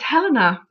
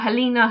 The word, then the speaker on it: Helena: do his name um it's Helena yeah she's not held she's telling that she's not halina Hellena she's Helena so now